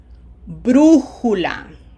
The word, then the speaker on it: brújula: Notice every one of them has a graphic accent on the third syllable, third from the right. Okay? Again, try to pronounce it and then verify with my my pronunciation.